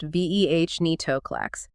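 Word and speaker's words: venetoclax: A key example is venitolax pronounced veh netoclax.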